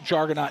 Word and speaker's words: Jargonaut: Unfortunately, uh, juggernaut is pronounced like Argonaut as in Jason and the Argonauts. Yes. Oh, jargonaut.